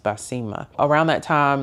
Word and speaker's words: Baseemah: phonetically for them because it's pretty much spelled the way that it's pronounced by Sema.